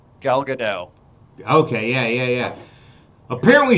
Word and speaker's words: Gadot: new wonder woman the latest wonder woman gail godeau i think how do you say her last name gal gadot okay yeah yeah yeah apparently she cut her